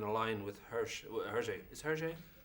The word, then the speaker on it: Hergé: Is Hergé? Hergé, yeah.